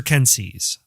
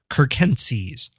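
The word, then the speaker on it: circenses: bread and games from Latin Panem at sir Kenzie's although some classicists have told me that the sea is always hard in Latin and it should be pronounced Kirk MCs it's a shorthand for a superficial means of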